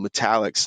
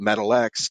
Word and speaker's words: Metal-X: These cards are called Metallics. Now, I already know everyone and their mother are going to mispronounce it and call it Metal X, because it says Metal-X. That's kind of my fault of trying to be tricky with an insert name.